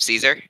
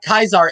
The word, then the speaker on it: Caesar: him Kaiser instead of Caesar uh Kaiser is also the proper Roman pronunciation of Caesar something today can we